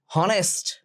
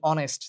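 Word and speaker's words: honest: পরের শব্দটা থেকে পরের ভাউলটা থেকে শুরু হয় এটা জাস্ট ক্লিক মাথায় রাখো হনেস্ট বলি না আমরা বলি অনেস্ট তহলে এ অনেস্ট হেয়ার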